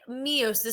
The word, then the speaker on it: meiosis: meosis it is spelled m e i o s i s it looks a lot like mitosis well I say meiosis some people will say meiosis um but I'm going